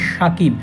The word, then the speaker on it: Shakib: আল হাসানের নামখানায় লেখা দুজনের নামের উচ্চারণ একই হলেও স্পেলিং এক নয় তানজিম সাকিবের নাম আর সাকিব আল হাসানের নামের স্পেলিং এর পার্থক্য আছে সাকিব আল হাসানের নামের English spelling S এইচ এ কে আইবি আর অন্যদিকে তানজিম হাসান সাকিবের নামের spelling S এ কে আইবি অর্থাৎ আল হাসানের নামের ইংলিশ স্পেলিং অনুযায়ী উচ্চারণ করলে নামটি সাকিব হবে না হবে শাকিব কিন্তু তানজিম সাকিবের বাংলা ইংরেজি দুই উচ্চারণেই হবে সাকিব তাই খুব খেয়াল করলে